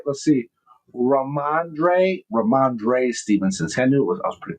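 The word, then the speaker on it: Rhamondre: Uh uh Ramande Ram Stevenson. Did I say it right? Let's see. Ramandre Ramandre Stevenson.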